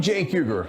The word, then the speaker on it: Cenk Uygur: I'm Cenk Uygur, and yeah, this C is pronounced like a J.